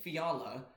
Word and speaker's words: Fiala: Uh Kevin Fiala. Uh, did I say it right? Yeah, you said it right.